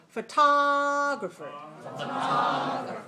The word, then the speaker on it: photographer: it short long short just these first three syllables photography photography now add the last photographer photographer okay good now maybe i didn't tell